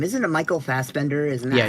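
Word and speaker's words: Fassbender: Isn't it Michael Fbender? Isn't that how you pronounce his name?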